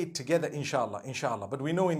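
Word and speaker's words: إن شاء الله: Because InshaAllah means if Allah wills, InshaAllah. We all say it together, InshaAllah, InshaAllah.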